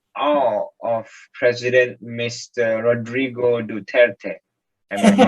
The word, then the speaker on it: Duterte: Rodrigo Duterte. Am I pronouncing his name right?